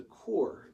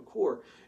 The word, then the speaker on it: corps: The term corps came from a French word, so it's spelled C-O-R-P-S, looks kind of like corpse if we'd read it in English, but it's a French term, and there's a couple reasons for that.